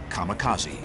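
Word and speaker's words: kamikaze: called it divine wind which in Japanese is pronounced kamakazi this would be the rallying Cry of Japanese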